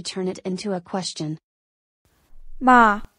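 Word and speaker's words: 吗: it into a question ma is pronounced in a neutral tone in such a case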